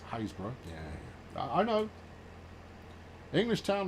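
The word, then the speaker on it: Happisburgh: Hapsburgh is that's Haysborough.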